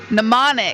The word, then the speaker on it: mnemonic: The M is silent. Mnemonic device.